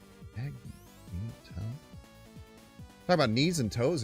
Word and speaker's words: Magneto: Check the pronunciation. It's mag knee toe. Magneto.